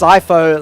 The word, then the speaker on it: Sipho: shout out to demon it's pronounced sipho like I there you go cipho or an easy little